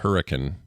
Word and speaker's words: Hurricane: Utah just before St George is literally called Hurrican it's spelled it's spelled hurricane but uh pronounced yeah people call it hurri